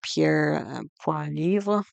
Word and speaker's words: Pierre Poilievre: He faces conservative leader Pierre Poilievre, I believe is how you pronounce his name, and he's called for the